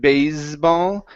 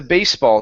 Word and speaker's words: baseball: next is baseball okay instead of basball give me an unvoiced S the baseball team the baseball team